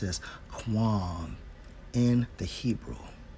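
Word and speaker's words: קוּם: Now, when we focus on I will raise up, and it's Strong's H6965, pronounced as Quam, in the Hebrew, right?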